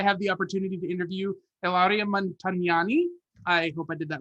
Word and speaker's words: Ilaria Montagnani: I'm here for the Music City Drive-In, and I have the opportunity to interview Ilaria Montagnani.